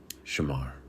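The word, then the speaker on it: שמר: Pronounce it with me in a low voice wherever you are. Shamar.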